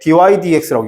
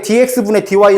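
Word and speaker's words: dy/dx: 그 다음 얘를 읽을 때 dy dx라고 읽는 거야. dy dx 이렇게 읽는 거라고. 이걸 만약에 dx분의 dy 읽으면 또 무식한 놈이 되는 거야. 알았지? 이걸 dy dx라고 읽어.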